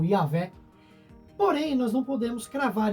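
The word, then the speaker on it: Yahweh: Hoje, muitos estudiosos eles entendem que a pronúncia mais próxima, talvez do nome antigo, provavelmente seria algo como Yahvé.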